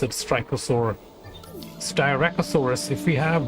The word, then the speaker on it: Styracosaurus: An additional Styracosaurus. My apologies. I don't know why do I pronounce it Styracosaur. Styracosaurus.